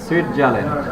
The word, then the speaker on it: Switzerland: সুইটজারল্যান্ড, সুইজারল্যান্ড না, সুইজারল্যান্ড দেখতে যেরকম সুন্দর, এর নামের বানানটা বলতেও খুব সুন্দর লাগে। কি? Sweet, sweet, Switzerland.